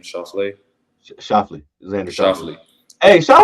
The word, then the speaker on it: Schauffele: Schauffele, Xander Schauffele.